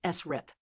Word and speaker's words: SRRIP: Now, static re-reference interval prediction, often pronounced SRIP.